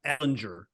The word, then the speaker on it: Ehlinger: And we're going to start with Sam Ehlinger. I'm not calling him Ellinger yet. He's got to win a game before I pronounce his name properly.